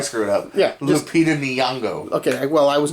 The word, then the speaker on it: Nyong'o: Lupita Logano? Or Logano? Hold on, stop. From Us. I know, stop talking before I screw it up. Yeah. Lupita Nyong'o.